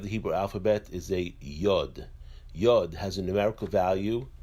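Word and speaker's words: י: Hebrew alphabet is a yard yard has a numerical value in the of ten the yard is pronounced as a yeah the next letter of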